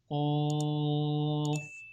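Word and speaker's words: ق: Qaf, Alif. Pronounce this qaf with heavy sound.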